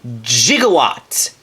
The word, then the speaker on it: gigawatt: of the crossover transformer gigawatt and yes you are supposed to pronounce that with a soft g and if you do not then you are a heathen now just like his